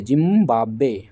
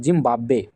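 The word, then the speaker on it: Zimbabwe: जो है जिंबाब्वे जिंबाब्वे जिंबाब्वे ठीक है इसका उच्चारण सही कीजिएगा जिंबाब्वे जिंबाब्वे नहीं जिंबाब्वे तो ये हो गया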